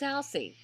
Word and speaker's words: Alcide: And since when is he Alcide? He's Alcide. Alcide. In the books, he was Alcide. They didn't pronounce the D.